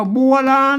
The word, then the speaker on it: บัวราณ: ตัว ละ นะ ครับ อ่าน ว่า บัวลาน นะ ครับ โบราณ ๆ